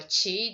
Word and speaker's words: 気: So that's what the idea, and it's basically sharing the same character pronounced as an ki or chi, that is as an tomato or tomato.